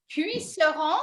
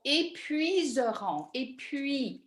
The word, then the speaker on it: épuiseront: C'est puisseront. Can you spell it for me? It's EPUISERONT. Oh, épuiseront. So get rid of the poo in there. Épuiseront. Épuiseront. Yeah, that's it.